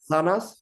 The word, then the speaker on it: manzanas: manzanas is correct because Manzanas. manzanas is zeta.